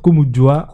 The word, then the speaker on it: Komondua: Nous, en fait, les U, ça s'écrit U, mais ça s'élit U en Lingala. Voilà. Komundua.